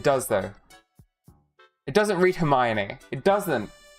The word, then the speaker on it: Hermione: Um, it's like the same as doing like Hermi one, you know, for Hermione cuz who the pronounces it Hermione when it's spelled like that?